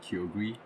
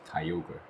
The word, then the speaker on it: Kyogre: As a kid, I used to call him Kyogre, but that because that's what my cousin called him, but now I know his name is supposed to be pronounced Kyogre.